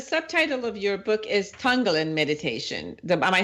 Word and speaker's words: Tonglen: Now, the subtitle of your book is Tonglen Meditation.